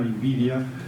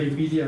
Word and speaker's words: Nvidia: gran empresa tecnológica norteamericana Nvidia eh que tiene un nombre escrito para que se pronunce como envidia en en en castellano, o en las lenguas latinas, esta empresa envidia del CEO ha estado